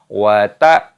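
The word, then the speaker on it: وَتَأْكُلُونَ: Wa ta'kuluna turotha aklan lamma. Perhatikan. wa ta'kuluna turotha aklan lamma wa ta'kuluna turotha aklan lamma. Ada hamzah sukun dibaca ta'kuluna, lamnya panjangkan, wawu sukun matobi'i 2 ketukan.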